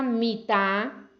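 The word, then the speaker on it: מיטה: con varias pronunciaciones diferente la palabra mitá que es cama y la palabra maté no maté maté es vara mit es cama y maté es vara y se escriben igual en el texto original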